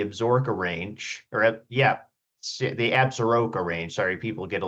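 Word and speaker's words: Absaroka: Sorry, people get a little the pronunciation varies, but regardless too. Yeah, that would be that's how I say as an outsider, but up here in Cody, we say absura.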